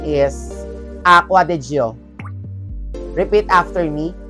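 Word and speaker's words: Acqua di Giò: But, surprisingly, the correct pronunciation is Acqua di Gio. Repeat after me, Acqua di Gio.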